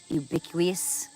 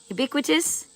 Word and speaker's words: ubiquitous: So, she is so in tune to that ubiquous ubiquous. Oh my god, I don't know how to say it. Ubicuous. Say it. Ubiquitous.